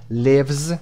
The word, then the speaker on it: lives: اما این کلمه lives صدای Z گرفته.